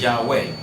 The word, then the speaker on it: Yahweh: It is not Yahoo anything. It is Yahweh.